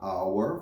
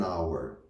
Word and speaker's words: hour: Como o H é mudo, vai ser a vogal. Então, ao invés de eu falar a hour, for example, eu falo an hour.